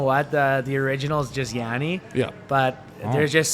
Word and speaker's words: Yanni: Yanni or Yanni. You know How what do I you mean? pronounce People it? fuck that up all the time. You know what? The original is just Yanni.